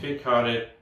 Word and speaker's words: kveik: I've been told it's quick. Oh, I would say it is Kveik or Kveik. Yeah. Yeah, but anyway. Yeah. The Kveik. The Kveik. Yeah. So this is the Kveik Pale Ale.